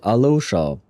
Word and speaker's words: Alyosha: Alyosha. Although, well, for Alyosha, I do believe that they say, in English they say it Alosha. Like, they completely skipped the Y, I think.